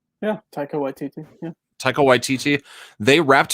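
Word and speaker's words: Waititi: hemsworth and tycho white wait tt do i pronounce his name right yeah taika white tt yeah taiko ytti they wrapped filming of uh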